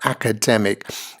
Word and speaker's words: academic: on the screen here academic and for syllables right and the stress principally is on the third syllable here right and then secondarily on the first syllable so it should sound